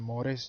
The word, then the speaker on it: mores: Mores jedha immoo pronounce gootanii mores jennee pronounce goona.